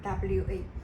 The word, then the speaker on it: は: in this sentence pattern when we use it as a particle it will be pronounced as what wa it is done for